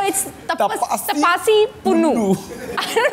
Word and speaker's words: Pannu: थोड़ा चेंज करते हैं पी ए की जगह ना पी यू एन एन यू कर देते हैं। I don't know why. पन्नू। This is the biggest experiment on मी। सो, इट्स तपस तपासी पन्नू।